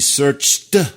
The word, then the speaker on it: searched: Non, là, on dit bien Searched. les exceptions, enfin, on peut pas dire des exceptions, mais en tout cas, la famille des verbes qui vont se prononcer avec la sonorité T.